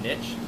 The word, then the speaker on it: niche: When I say niche, a lot of people call it niche, but you call it whatever you want. I'm pretty sure the word is a derivative of France, and they pronounce it niche.